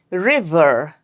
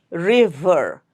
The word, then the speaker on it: river: River, river. Make sure to pronounce the V sound correctly there. Okay? Your lower lip will touch the upper teeth. River. Don't make it bilabial. Don't say river. It's river.